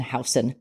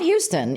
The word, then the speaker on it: Houston: that know New York it's on Elizabeth and houseon not Houston even though it's spelled Houston yeah right it's h